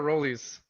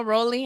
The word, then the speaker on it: Rolly: Do you say Rolly or Rollies? No, Rolly. I call him Rolly.